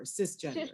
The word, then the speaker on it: cisgender: Is it CIS gender? Cisgender. Yeah, cisgender. And it's not a term that I know well enough to define, but I've heard it before. Cisgender.